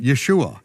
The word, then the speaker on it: Yeshua: there's no and there's there's no other way to pronounce it Yeshua Yeshua it's written right there with the vowels and I am the